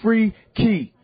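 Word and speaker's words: Freekey: spell it f-r-e-e-k-e-y-z-e-k-e-y really the word freaky is two words in one you know what I'm saying it's free key that's what your boy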